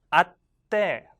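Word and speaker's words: 会って: 그래서 아우, 만나다, 만나서 아우니까 으때가 더해지니까 아때.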